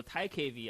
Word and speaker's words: TiKV: So TiKV actually, so that's the pronunciation of the project.